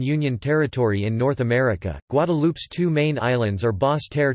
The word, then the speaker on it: Guadeloupe: Guadeloupe, French pronunciation, Guadeloupe, Antillean Creole, Guadeloupe, is an insular region of France located in the Leeward Islands, part of the Lesser Antilles in the Caribbean.